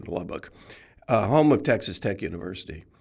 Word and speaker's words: Lubbock: I grew up in a town in West Texas, Lubbock, and people always mispronounce it. They say Lubbock, but there's no ick in Lubbock.